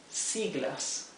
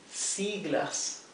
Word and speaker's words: siglas: In Spanish we call that siglas. siglas. Those are acronyms in Spanish. 2 syllables.